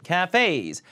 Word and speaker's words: cafes: 발음 cafes. 카페가 아니라요. cafes. 카예요. 그 다음에 cafe. 에이처럼 읽어야 돼요.